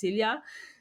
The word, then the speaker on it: Silja: So because the J is actually silent, it's Silja.